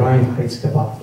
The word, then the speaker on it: Reinheitsgebot: Yeah, that's the purity law called the Reinheitsgebot. I believe I pronounced that correctly.